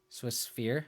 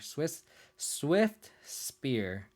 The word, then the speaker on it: Swift Spear: Swiss Sphere. Oh, maybe I'm just being dumb. Swiss Spear. Swift Spear. Swift Spear. I guess I am saying it wrong. I guess I'm saying Swiss Sphere.